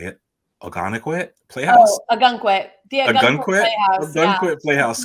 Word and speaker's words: Ogunquit: Oh, Ogunquit.